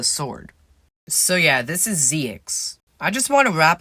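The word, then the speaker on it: Ziox: i'm doing here so this guy's name is the weirdest it's zx and it's spelled z-i-o-x so he's a knight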